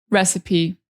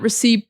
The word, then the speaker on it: recipe: Recipe, this word, I know in English we usually don't pronounce the E's at the end of words, especially not like E.